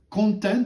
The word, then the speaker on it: content: On va parler aussi de content. Alors, il ne faut pas le prononcer à la française, hein, c'est stratégie de contenu.